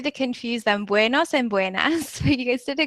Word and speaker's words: buenas: to try it too buenos Tardes and and here you can see this one is a little bit different from buenos dias because it has an a instead of an o so say that one